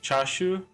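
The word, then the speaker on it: チャーシュー: we gave was more chashu shash shashu yes which is excellent yeah CH neat I think he's saying it in some like dialect thing because it's chash chashu is the like standard pronunciation for like or I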